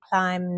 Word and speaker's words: climb: So, for example, the word bee, you have comb, climb, numb. So you don't say the bee.